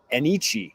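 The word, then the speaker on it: Enyce: His name is Enichi, Joey. Enichi Sledge. That is how you pronounce it according to the Auburn pronunciation guide.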